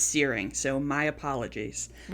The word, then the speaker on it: Searing: It's Searing. So, my apologies. Well, I've only been mispronouncing that for the last five years.